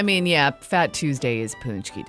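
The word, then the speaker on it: pączki: write it in yourself so pxy is what it looks like but punchki punchki day is on Tuesday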